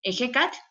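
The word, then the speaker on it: Ehecatl: Entonces, por ejemplo, en Ejecat se pronuncia Ejeca. Es como una aspiración mucho más fuerte.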